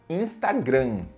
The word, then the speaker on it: Instagram: rede social é o Instagram Instagram né ou ou algumas pessoas chamam de insta né Instagram na pronúncia correta em inglês é instagram instagram repeat with me Instagram ok Nossa